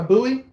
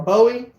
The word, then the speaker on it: buoy: like you do on a buoy or a Bowie however you want to say it I say buoy because I've got a town about 20 minutes from here it's called buoy spelled the same grew up saying it so if you